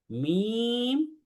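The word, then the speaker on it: ميم: এই মিম এবং নুন, এই দুইটা হরফও 3 আলিফ করে উচ্চারণ, 3 আলিফ টেনে পড়তে হয়। তাহলে আমরা বলি মিম, নুন।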